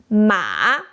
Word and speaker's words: 马: The pronunciation is start low, dip down, then rise up. Just like we did with where in English.